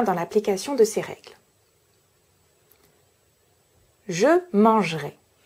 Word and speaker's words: mangerai: Ici, vous observez que j'ai deux consonnes avant mon E, mais j'ai une seule consonne prononcée, le J. Mon N appartient au son voyelle en. Je peux donc supprimer le E.